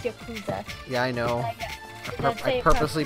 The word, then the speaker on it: Yakuza: And by the way, it's Yakuza. Yeah, I know. I purposely pronounced it properly because some people love Yakuza.